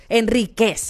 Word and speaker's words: Henríquez: Enríquez, así es que se pronuncia.